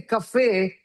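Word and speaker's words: café: So in English you say K for something, but in that's you say cafe because it's French, right?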